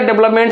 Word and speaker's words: development: अगर count of syllabus से भी क्वेश्चन आता है तो इससे कितना हो गया, डेवलपमेंट से सर 4 सिलेबल है। और देखिए स्ट्रेस कहाँ लगता है, VEL पर लगता है, इसको हमने अंडरलाइन कर दिया।